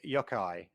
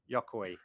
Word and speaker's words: Yokoi: his co-worker at nintendo the chief engineer gunpei yokai yokoi sorry yashida for the pronunciation from newcastle it's this what you can